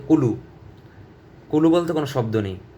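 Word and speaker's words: قُلْ: কফ লাম পেশ কুল, কুল। আপনারা সবাই খেয়াল করবেন জানি এখানে কুল না হয়ে যায়, কুল, কুল।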